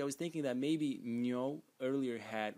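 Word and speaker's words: 牛: And the bottom part of the character, which is a different color, this one here, which today is written like so, is pronounced nyo, nyo, and it means ox, ox.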